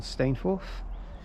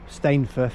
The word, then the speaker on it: Stainforth: Stainforth, I think that's how you say it. That's how the onboard announcement said it, so I'll go with that.